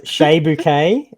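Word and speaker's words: Chez Bucket: spell his name, that his name is actually spelled Chez, and his surname is spelled Bucket. Bouquet. So he God, has been presenting himself as Shea Bouquet, whose name is actually spelled phonetically Ches Bucket.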